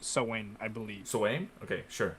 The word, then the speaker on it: Samhain: you're talking about it's it's spelled like uh samhain but it's pronounced sewing i believe aim okay